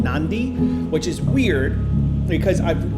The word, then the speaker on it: Nadi: But I kept hearing people say Nandi, Nandi, Nandi, Nandi. And I'm like, is this the same place? No, they put an N into the word just randomly.